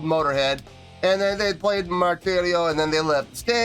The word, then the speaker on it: Martirio: After that came Martirio. Yes, and is that how you pronounce it?